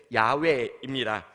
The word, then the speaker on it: 야훼: 학자들이요, 가장 비슷하다고 생각하는 발음은 사실 야훼입니다.